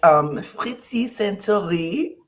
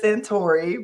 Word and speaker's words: Saintoiry: In English, she says Santori, but I wanted to pronounce her name the way it's supposed to be pronounced.